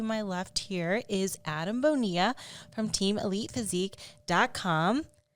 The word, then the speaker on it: Bonilla: So if you don't know, his name's not Adam Bonilla. It's Bonilla. Yes. That's the Midwest way of saying my name, but it's okay.